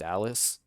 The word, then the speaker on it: Elise: oh elise is supposed to be pronounced alice it's been a pleasure